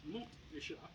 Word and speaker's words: Montréchat: French, pointing out that the locals in Montréchat actually do pronounce the T. It's Montréchat.